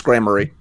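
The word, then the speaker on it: Gramarye: I looked it up. It's grammary.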